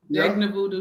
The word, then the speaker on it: Jegna Voodoo: Did I say it right? Jegna Voodoo, yeah.